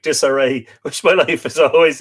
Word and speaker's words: Desiree: My name sounds like disarray, which my life is always in, says Desiree.